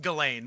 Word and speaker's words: Ghislaine: It's pronounced Ghislaine, but it's way more fun to call her Ghislaine.